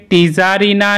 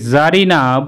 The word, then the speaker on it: tzarina: अथवा TZARINA वर्डटीके टीजारिना ना बोले क्यों एटीके जारिना बला है।